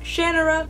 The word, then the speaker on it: Shannara: tme the Sword of Shannara by Terry Brooks which is actually supposed to be pronounced Shannara but even Terry Brooks realize that that sounds kind of ridiculous Carnivale by Stephenie Garber